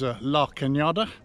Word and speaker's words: La Cañada: and Pasadena this is LA cañada which is spelled la canada much to Nancy's annoyed sigh say hello Canada sorry Nancy is so